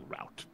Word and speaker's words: route: Maybe not through the traditional route, or route. We pronounce it both ways, Yonata.